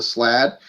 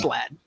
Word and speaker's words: Slaad: SLAAD. I might be saying it wrong. No, But, it's Slad. I'm pretty sure. It's I'm either pretty Slad sure or it is, yeah. Slade. But no, Slade wouldn't sound right. Slade sounds Maybe wrong Slad.